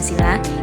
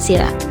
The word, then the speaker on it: sila: kata yaitu panca dan sila Panca berarti lima dan sila dengan huruf i yang dibaca pendek mempunyai arti satu sendiri dasar dan alas atau asas sedangkan sila yang pengucapannya i panjang berarti peraturan tingkah laku